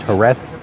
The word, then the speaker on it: Jerez: We are in Jerez, Spain. And yes, I do know that it's pronounced Jerez in Spanish, but I'm going to give you the English pronunciation simply because it's easier for my tongue.